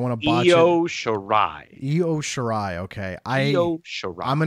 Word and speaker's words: Io Shirai: And how do you pronounce her opponent's name? Because I don't want to botch Io Shirai. Io Shirai.